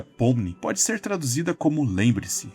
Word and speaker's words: Pomni: Em russo, a palavra pomni, que se pronuncia pomni, pode ser traduzida como lembre-se ou record-se.